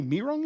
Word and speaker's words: Mihirungs: In number 11, it's apparently Mihirungs is how you pronounce that.